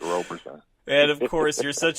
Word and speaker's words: Roberson: So it is Roberson, not Roberson, right? Correct, Roberson.